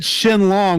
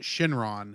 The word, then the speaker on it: Shenlong: You said Shenlong, which is the actual Japanese name for the character, but in America we've always called it Shenron.